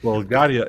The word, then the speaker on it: Bulgaria: Bulgaria, and our R is very harsh. I mean, Bulgaria. Not Bulgaria or Bulgaria or something, but it doesn't matter.